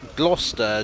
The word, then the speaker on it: Gloucester: across old maps that abbreviate it to gloucester g-l-o-s-t-e-r presumably they figured that the pronunciation was familiar enough that they could spell it that way and people would know what they were talking about owens had an argument